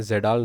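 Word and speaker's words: Kjeldahl: Free ammonia और organic ammonia को हम कहते हैं जेडाल नाइट्रोजन। क्या कहते हैं? KJE, यहाँ पे के साइलेंट रहता है, DAHL नाइट्रोजन।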